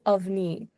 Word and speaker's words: Avni: Her name is Avni. It can Avni. Just try pronouncing it. Avni, right? Yes, you got it. Yeah. Okay, yeah, sorry for No, it's all right. mispronunciation. I was just telling you how, these are Indian names, so all of our names are different.